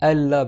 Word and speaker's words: Allah: nous et tu écris Allah parce qu'on fait un hydrom le noon avec le LaM et normalement tu dois le prononcer Allah et du coup même